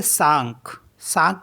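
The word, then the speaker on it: cinq: है एंड सी आई एन के इसको पढ़ेंगे सांक सांक मेंस होता है फाइव सी ओ यू एस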